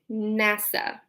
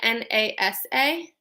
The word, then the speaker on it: NASA: So an example of an acronym would be NASA, if you've ever heard of NASA. Yes, it is the National Aeronautics and Space Administration. Notice how we don't say N-A-S-A, we say NASA, so we take the